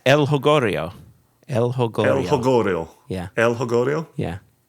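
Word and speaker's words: El Jolgorio: But it's an El Jonglorio. That's not how you pronounce the name, but we'll leave that in there.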